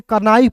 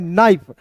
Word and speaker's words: knife: फिर देखिए दोस्तों यहाँ पे KNIFE, तो बहुत लोग इसे कनाइफ पढ़ लेता है, नहीं दोस्तों इसे पढ़ना है नाइफ। अब देखिए कनाइफ क्यों नहीं पढ़ना है, क्योंकि यहाँ पे के जो है साइलेंट हो जाएगा, और NIFE को क्या